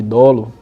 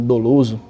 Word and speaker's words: dolo: Seguindo, eu elenco mais algumas palavras aí, por exemplo, a questão de dolo, já ouviu falar sobre crime doloso, né? Importante a pronúncia que é dolo e não dolo.